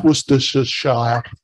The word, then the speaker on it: Worcestershire: find difficult to pronounce worcestershire all right it's not shy we say sure so it's Worcestershire it kind of dies away and in England if